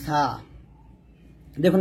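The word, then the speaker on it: صاد: দাঁতে লাগাবেন না এরকম আমরা অনেকে এটাকে সোয়াদ বলি এটাকে তো বলি এই যে ঠোঁটটা গোল করে বলি তো সোয়াদ এরকম বলি এরকম বলা যাবে না এটা ভুল উচ্চারণ তারপর হচ্ছে দেখুন দুইটা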